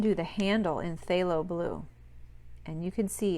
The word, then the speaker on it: phthalo: It's called phthalo blue. It's spelled P-H-T-H-A-L-O, phthalo blue.